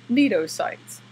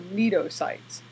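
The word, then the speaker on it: cnidocytes: is that they possess neato sites the C is silent so neato sites and I say here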